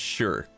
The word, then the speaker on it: shire: Shire is pronounced sure.